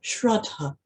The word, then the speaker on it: Shraddha: Actually, in Sanskrit, when you take it right back to its core basic meaning, is a word pronounced as Shraddha, spelled S-H-R-A-D-D-H-A, in the sort of phonetic spelling we use in English.